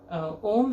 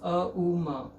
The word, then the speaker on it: Om: Om has, it can be used as one syllable or three syllables, uma, in one utterance.